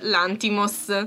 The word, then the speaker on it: Lanthimos: molto si chiama oltretutto adesso ve lo dirò con l'accento giusto e io ho sempre sbagliato l'accento perché si è l'anti moss per chi non lo